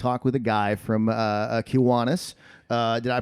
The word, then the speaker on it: Kiwanis: Look, they told me that I was going to talk with a guy from Kiwanis. Did I pronounce that right? Kiwanis? Kiwanis? Kiwanis, yeah.